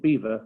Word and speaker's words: Belvoir: and named it belvoir the local anglo-saxons just called it beaver which is why we still pronounce it like that today my family name is